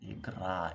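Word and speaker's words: игра: Um, whenever you're pronouncing this double T sound, let's say in English, if you're an American speaker, you always pronounce it like this. Better, fatter, getter, and things like that, right? This t, t, t. When you pronounce it fast, it produces a similar sound to this one. R, igra, igra, igra.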